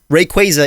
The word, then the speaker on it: Rayquaza: even like pokemon dude i've pronounced rayquaza correctly raqueza rayquaza is how you pronounce rayquaza yeah people this happened